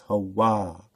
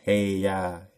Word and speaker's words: Hawah: Again, when you see the H-U-A, it's HaWaH. You don't pronounce HaYah. The UA, the UAs are always there for a reason.